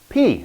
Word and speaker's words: pi: P, of course. So it's same in Greek, actually, P. Remember, not pi, but P.